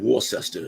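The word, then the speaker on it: Worcester: locally it's pey man it's like War sester it's not war sester yeah and it's w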